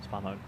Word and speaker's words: Svanholm: Svanholm. Long day, Vinny. In Danish, I think that's actually how it's pronounced.